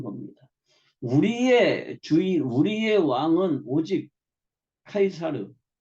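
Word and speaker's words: Caesar: 우리의 우리의 왕은 오직 카이사르 성경대로 하면 가이사 영어식 발음으로 하면 시이죠 나밖에 없다 그런데 저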